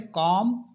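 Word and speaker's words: comb: है ना तो वहां पर जो है बी साइलेंट होता है जैसे कॉम बम डम नम प्लम तो प्लबर नहीं बोलते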